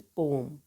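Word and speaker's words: poem: नॉट पोएम, this is पोम। तो हम English में पोम बोलते हैं, पोएम नहीं बोलते हैं। जो पोएम है वो एक इनकरेक्ट प्रोनाउंसिएशन है। तो करेक्ट प्रोनाउंसिएशन क्या है? पोम।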